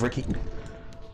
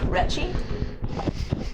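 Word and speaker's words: Recci: The bartender goes by the name of Ricky. Super common. Awesome. It's R-E-C-C-I. Okay, yeah, no, that's fine. Riki, okay. Retchie? He pronounces it Ricky. It's a local spelling.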